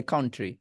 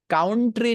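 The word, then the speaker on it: country: এটা চেঞ্জ করতে হবে কাউন্ট্রি না বলে আজকের পর থেকে আপনাকে বলতে হবে কান এই কান আছে আপনার এই কানের পরে গাছ লাগান কান্ট্রি কান্ট্রি কানের পরে গাছ লাগাইছেন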